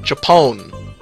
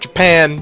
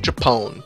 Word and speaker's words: Japon: the warring force of japon not japan japone j-a-p-o-n uh fighting the royal